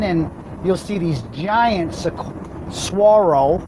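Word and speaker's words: saguaro: you'll see these giants swaro I said it right at this time swaro cactus that's not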